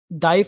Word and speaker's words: ضعیف: اور ایک ضعیف حدیث ہوتی ہے جو اس کی ایکوریسی بالکل.